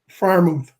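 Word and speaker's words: Freiermuth: Firemouth. Oh, is that how you pronounce That's his it. last name? That's it. Fair move. Yep. Okay, Firemouth.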